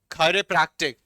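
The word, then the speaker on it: chiropractic: किरोपोडिस्ट, किरोपोडिस्ट, किरोपडी, किरोपडी, खायरोप्रैक्टिक, ये खाए बनेगा खाए, खायरोप्रैक्टिक, खायरोप्रैक्टिक, खायरोप्रैक्टिक, किरोग्राफी, खायरोग्राफी,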